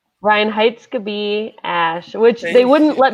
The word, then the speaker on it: Reinheitsgebot: Reinheitsgebot Ash, which they wouldn't let me put my actual title in Instagram because it's Reinheitsgebot is my Yeah.